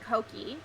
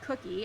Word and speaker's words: Koki: So I got a lot more momentum, and then I interviewed Koki, who for a year I called Cookie, and no one bothered to tell me I said her name wrong.